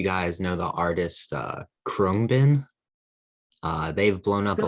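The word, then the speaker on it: Khruangbin: know if you guys know the artist uh chromebin uh they've blown up a lot of band the band the band yeah is that how you pronounce it yeah krung bin it's a weird pronunciation but it's like k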